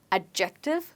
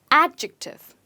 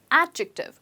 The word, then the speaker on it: adjective: word it's a grammar word which is often mispronounced so guys it's not adjective but it's adjective try it again adjective and the stress is on adjective okay now